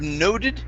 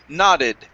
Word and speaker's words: nodded: words okay first up instead of noted this word is nah nodded i nodded as i